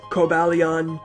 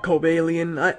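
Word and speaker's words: Cobalion: legendary Pokemon Kobe alien I know a lot of people pronounce that different it's like kobalian cobalian I like obalian I think it sounds like sort of weird but it sounds pretty cool as well and uh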